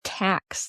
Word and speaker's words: tacks: Yeah, it's tacks like a thumb tack, like t a c k s.